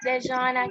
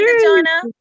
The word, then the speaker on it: Dejana: you called my name, which was not how you pronounce it is Dejana. Okay, Dejana. Did I pronounce it right now?